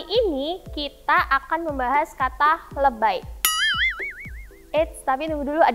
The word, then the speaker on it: lebay: Dari kata lebih dengan pengucapannya, dengan pelafalan bahasa Inggris. Jadi i-nya dibacanya I, jadi lebay.